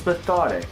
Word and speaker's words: Methodic: by the name of metonic I was pronouncing it method it before but it's pathetic apparently but for those who do not know